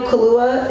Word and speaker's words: Kaluuya: So is it Daniel Kaluuya?